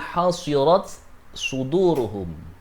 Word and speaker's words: حصرت صدورهم: bacanya tak taknis ini tak matinya harus dibaca jelas dengan menggunakan baca hamz sehingga bacanya hasirat suduruhum di surat An-Nisa ayat 90.